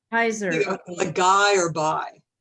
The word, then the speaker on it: Huyser: Am I pronouncing your last name right? It's Huyser. Huyser.